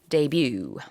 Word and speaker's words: debut: different in Korean we say but in English debut yes 라는 발음만 주의하시면 될 거 같고요 지금까지는 뜻입니다 그래서